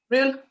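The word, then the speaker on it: Rhyl: it was it real how do you pronounce this sophie is it real or royal real real okay you said you've been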